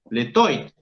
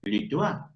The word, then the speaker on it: toit: sé nada de francés, digo letoit. Letoit. ¿Qué es eso, letoit? No, Miguel, no, ¿cómo vas a decir semejante burrada? Es litois. Litois. Ah, o sea que la O acompañada de la I suena guá.